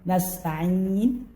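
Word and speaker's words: نستعين: Nasta'in ataupun huruf ain jangan sampai bertukar dengan hamzah nasta'in, atau akan merubah makna menjadi kesalahan besar.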